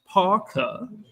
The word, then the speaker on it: PAUCA: PAUCA is pronounced PAUCA, and as a greeting, it means I got your back.